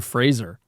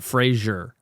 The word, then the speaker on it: Fraser: was like yeah basically the world's been saying my name wrong for years and I kind of just let it happen but yeah it's Brandon Fraser interesting yeah not Frasier I think everybody started saying Frazier because Frasier was on the air yeah yeah but it's not spelled the same see Frazier's ier yeah